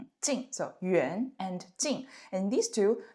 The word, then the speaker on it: 远: So, here yuan this part inside the radical the pronunciation is yuan yuan second tone.